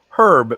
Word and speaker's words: herb: say aluminum aluminium and just like they say herb herb because it has a h in it how do they say